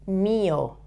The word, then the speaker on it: mío: Mío, okay? With an accent on the I, the Spanish I.